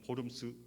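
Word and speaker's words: Worms: 회의에 에 초안이 됩니다 1521년 4월 17일 루터는 보름 스 이외에 소개됐습니다 그래서 첫째날 교황청에서 고발자 가 왔어요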